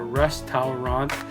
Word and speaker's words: restaurant: it's just restaurants so remember that that that's syllable that's right before that are many times disappears so give that a try so instead of we're going to go to a resturant we're gonna go to